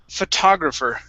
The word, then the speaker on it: photographer: very quiet right and the o is actually going to be an uh sound fu photographer photographer one more time